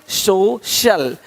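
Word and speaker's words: social: अब देखो, यदि सी के आगे आई ए हो तो सी का उच्चारण श होता है। क्या होता है? श होता है। क्या लिखा हमने? सोशल, सोशल, सोशल। तो यहाँ पे शल हो रहा है, सोशल, है ना?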